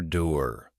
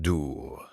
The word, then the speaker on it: dour: Dur, prononciation dure, meaning relentlessly severe, stern, or glooming.